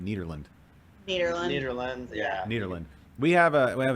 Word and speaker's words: Nederland: or is it nederland nearly cedar lens yeah nederland we have a we have an issue with pronunciation on the show and i want to